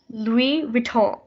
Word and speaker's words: Louis Vuitton: it's a famous brand it's actually pronounced louis vuitton we we talk and